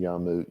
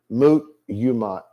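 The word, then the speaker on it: מות יומת: I think I keep saying Yamut, don't I? Mut yumat is the right way to say it. Well, you could say it the way I did say it. It'd be the same thing.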